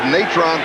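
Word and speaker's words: Natrone: piece of running and we checked out the pronunciation of his first name this is several different ways that we asked him how his mother pronounced it she said natron he said that's it puff fake wants to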